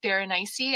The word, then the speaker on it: Berenice: I, for growing up, I always thought Berenice, and then someone corrected me to say Berenice, as in like rhymes with very spicy, but Yeah.